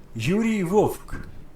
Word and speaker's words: Vovk: So Yuri Vovk, I'll pronounce his name again. Yuri Vovk.